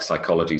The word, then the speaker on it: psychology: Yeah, so for example, receipt has a silent P, and then you've got all of the other P words like psychology, psychiatrist, psychological, psychiatric, psychosis, psoriasis.